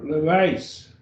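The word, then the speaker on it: λύεις: The epsilon iota is a diphthong, gets the EI sound as in rein, like a rein on a horse, or the reign of a king, R-E-I-G-N.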